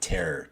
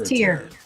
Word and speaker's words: Tear: Is that how they say it, or is it Terror? It's Tyr. If you're from Tyr, you're a Terran, but it said Tyr.